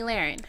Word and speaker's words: Lahren: You call her Lauren. I think Oh, it's well. Lahren.